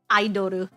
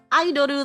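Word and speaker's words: アイドル: Well, they're technically just Aidoru. Aidoru, like the little card.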